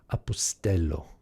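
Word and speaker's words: ἀποστέλλω: says i send apostello apostello remember the accent is on the epsilon there apostello and that means i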